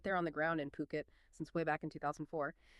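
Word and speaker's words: Phuket: And just a quick note, that's pronounced Puket, not Fuket.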